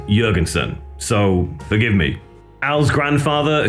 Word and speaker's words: Jourgensen: I will quickly say I know Al pronounces his surname with a hard J, Jurgensson. However, I've been living in Scandinavia for a few years and most J's are soft. And given this is a Nordic surname by nature, I'm probably going to out of habit pronounce his name with a soft J as Jurgensson, so forgive me.